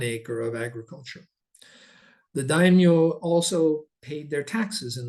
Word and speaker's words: daimyo: The shoguns and the daimyo, Yumi, correct, how do you pronounce daimyo?